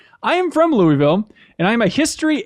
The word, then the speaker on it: Louisville: it on the podcast is it Louisville it's pronounced Louisville okay not Louisville I didn't have to google that ahead of